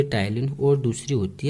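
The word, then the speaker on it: ptyalin: जिसमें पहली होती है टाइलिन और दूसरी होती है लाइसोजाइम। अब टाइलिन देखो PTAYLIN होता है। अब यहाँ पे P आपका साइलेंट होता है, तो बच्चों कंफ्यूज मत होना, टाइलिन की स्पेलिंग ये होती है।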